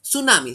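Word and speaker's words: tsunami: सुनामी, सुनामी में T silent है, like that.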